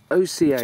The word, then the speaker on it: oca: a looking at this this is something called Oka or AA it depends on how you pronounce it it's OCA is how it's pronounced it's spelled and it's